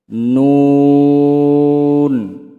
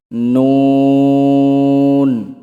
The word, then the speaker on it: نون: لام তারপরে আসি 9 নম্বর মাখরাজ জিহ্বার আগা তার বরাবর উপরের তালুর সঙ্গে লাগাইয়া নুন উচ্চারণ করতে হয়।